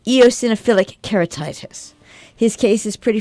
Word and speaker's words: eosinophilic: diagnosed our cat Mr softi with is it eosinophilic keratitis or asoph philic oric EO eosinophilic oh all right eosinophilic keratitis all right that's what you're trying to say it is what I'm trying to say eosinophilic keratitis his case is pretty far along because